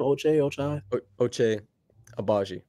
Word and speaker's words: Ochai Agbaji: Ochai Agbaji.